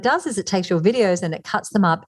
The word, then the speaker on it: Vidyo: mentioned earlier, is called Video AI, but it's spelled VIDYO, like yo-yo, Video AI.